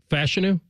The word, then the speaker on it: Fashanu: muua fashanu okay or wait a minute it's fashanu fashanu I believe is what we're going with